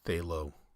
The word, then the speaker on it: phthalo: So originally I was going to say phthalo blue, but I know that Bob Ross calls these phthalo. I think he uses phthalo white.